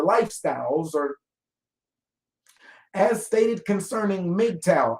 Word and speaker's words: MGTOW: or as stated concerning Midtown is how that's pronounced m-g-t-o-w men going their own way system which I originally